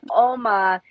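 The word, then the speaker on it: 엄마: Oh, And then Oma, and then Oma is how you say mother in Korean.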